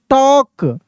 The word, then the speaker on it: talk: TALK, टॉक, ऐसे, टॉक, टाल्क नहीं, टॉक।